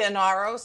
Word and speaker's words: Inaros: How do you pronounce? I say Inaros, I think, because I'm a New Yorker, but Naomi pronounced it Inaros.